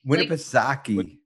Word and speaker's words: Winnipesaukee: loves golfing and boating on i hope i pronouncing this right win a piece suck winnipesaukee winnipesaukee yep lake winnipesaukee all right well and um